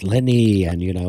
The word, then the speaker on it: Ligny: not pronounced it's not ligny, it's leni. Yeah, leni. The g is silent.